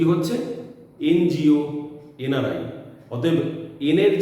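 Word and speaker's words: NGO: এনজিও, এনআরআই। অতএব এনের যে অরিজিনাল সাউন্ডটা ন, যে নেজাল কনসোনেন্টের যে প্রসেসটা, সেই ন কিন্তু এখানে আর খুঁজে পাওয়া যাচ্ছে না। এখানে এনের উচ্চারণে আগে এ চলে আসছে।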